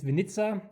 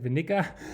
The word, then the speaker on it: Winnica: T now they Solaris 2023 so uh it's Venza as I learned from from a Polish contact I always said Vena yeah of course you uh you pronounce or